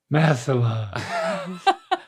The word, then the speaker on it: masala: Chicken tikka masala. What do you say when you go in a hot tub? So just say that. You say that sound in the middle.